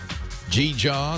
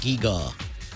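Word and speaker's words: gewgaw: Black Friday doodad or G-jaw that you bought. Somebody sent me an email saying, a Leo, that's pronounced gee-gaw. He said, I've been hearing you for months mispronounce gee-jaw. It's gee-gaw, please.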